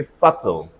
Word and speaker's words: subtle: not sub to say subtle subtle the B silent look at d e